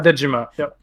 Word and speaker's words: Dejima: participating in ndx um your studio is pronounced dejima right yeah dejima can you tell us